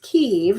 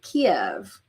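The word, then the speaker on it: Kyiv: I've recently learned that it's pronounced Kiev, not Kiev. Okay, see how they spell it slightly differently?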